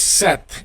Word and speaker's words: cette: Now, for the feminine, regardless of whether it is written with a vowel or consonant, if it is feminine, it is set, and it is spelled C-E-T-T-E, okay?